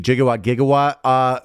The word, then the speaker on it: gigawatt: Or gigawatts, if you will. Yeah. Also, I did look into the gigawatt. We changed the pronunciation. It used to be a gigawatt, but we switched to the soft G gigawatt, and that is what we currently.